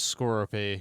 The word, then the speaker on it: Skorupi: Where he got that from, I don't know, but the actual Pokemon name is Skorupi. Like Scorpion. It's spelled Skorupi.